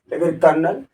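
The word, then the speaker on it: colonel: तो आदि शब्द आप देख सकते हो कि देखो इसका उच्चारण में और इसके जो स्पेलिंग है इसमें देखो कितना अंतर आपको देखने को। कोलोनल कर्नल लेफ्टिनेंट को ऐसा लिखा जाएगा।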